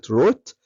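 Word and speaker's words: wrote: بدا يعمل ايه بقى خلي بالك ان كلمه روت الدبليو سايلنت اوكي رايت بالاي هتبقى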